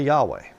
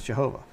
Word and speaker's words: Jehovah: I don't say Yahweh. Okay? I believe it's Jehovah is the correct one there. And, you know, I look at the thing and I look at it and I see 3 syllables there. Jehovah. There's 3 within the Godhead. You know. But Yahweh's only 2.